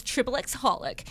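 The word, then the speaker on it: xxxHOLiC: x holic xxx holic I'm not sure how to say it it's it's trip XX holic that sounds super dirty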